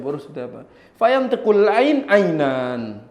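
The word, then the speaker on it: عين: Fantamqul ain ainan. Dia ucapkan ain ain bukan nga.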